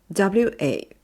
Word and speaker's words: は: The は is a particle and is pronounced as は wa.